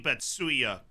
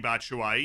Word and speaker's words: Batshuayi: of Fox's many mispronunciations Mishi betsuya Japan's greatest Striker or the Belgian Mishi batshuayi you decide that's six goals today